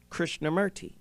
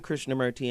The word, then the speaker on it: Krishnamurti: And the Hindus say it correctly. It's not Murti, it's Morti, right? Morti, Didn't know right? how to spell it with O.